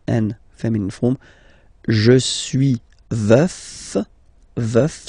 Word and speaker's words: veuf: Je suis veuf, veuf, so remember to pronounce the final F, veuf.